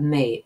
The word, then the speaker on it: mais: That may, M-A-I-S. Even though it's spelled M-A-I-S, it's pronounced may.